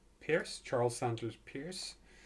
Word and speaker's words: Peirce: Peirce, Charles Sanders Peirce. Peirce. Okay, that's how you pronounce it.